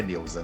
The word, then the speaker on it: Neusa: dizer assim, meu nome, faz conta que meu nome é N-E-L-S-A, Nelsa. Quer dizer, se eu substituir o U pelo L, dá certo.